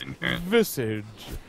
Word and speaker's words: Visage: I have the thing where the guy pronounces it, and I played it. So it's like, it's visage.